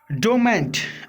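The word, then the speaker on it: dormant: Next है डोमेंट। Are silent होगा।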